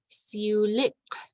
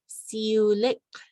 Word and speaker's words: siulik: Monday is siulik, that has the diphthong iu, so it's iu, siulik.